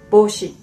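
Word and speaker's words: 帽子: heart in japanese saying we write bo ushi but actually a pronunciation is boshi so it belongs to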